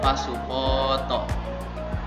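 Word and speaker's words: パスポート: Contohnya itu pasupoto. Nah, itu pas bagian po-nya itu dibaca panjang.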